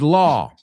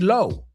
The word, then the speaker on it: law: The reason I wanted to highlight that word is a lot of people say low. Low. Y no solo con esa palabra, pero sino con cuñado. My brother-in-law. No, it's law.